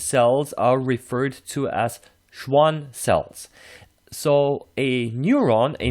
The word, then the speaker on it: Schwann: And Schwann is the name of a scientist, Theodor Schwann, so it's pronounced as a sh and not skv.